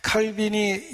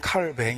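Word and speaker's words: Calvin: 강했기 때문에 배척 받았습니다 칼빈이 영어식 발음이 고 원래 이름은 칼 맹 입니다 프랑스 사람이거든요 그런데 충격적인 건 프랑스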